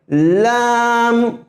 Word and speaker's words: لام: الف لام زبر الف لام زیر الف لام پیش یعنی لام کا مخرج کہاں ہے؟ طرف لسان اور زواحق سے، یعنی سامنے کے دانتوں سے لگ کر کے لام کا تلفظ نکلتا ہے.